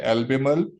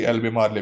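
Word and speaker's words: Albemarle: और हमने इसको उर्दू में लिख भी दिया है, एल्बेमल। और ये जबर लगा दिया, तो इससे एग्जैक्ट प्रोनाउंसिएशन भी मिल रही है। आप इसे इनकरेक्टली जी एल्बेमारले भी पढ़ सकते हैं जी।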